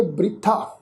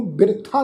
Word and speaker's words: बृथा: पहला जिहड़ा शब्द आ बब्बे नूं सिहारी, बब्बे दे पैर विच तुसीं देखो अद्धा रारा, फिर तत्थे नूं कन्ना। इसदा उच्चारण करांगे बृथा। बब्बा रारे नूं सिहारी, थत्थे नूं कन्ना, बृथा। इनू बिरथा नहीं उच्चारण करना, इसका उच्चारण होएगा जी बृथा।